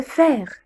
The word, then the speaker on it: faire: AI, on le prononce eh. Faire, faire.